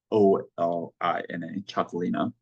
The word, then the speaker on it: Txakolina: By the way, that's how it's pronounced. Txakolina, Txakolina.